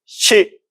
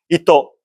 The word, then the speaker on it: 糸: 소리를 발음 마르냐?이 글자의 소리는 시 우리는 사잖아요. 근데 일본을 시라고 읽습니다. 시. 그리고 실이라는 우리 뜻도 있잖아요. 그렇죠? 음. 일본도 뜻이 있습니다. 이또 이또가 실이라는 뜻입니다.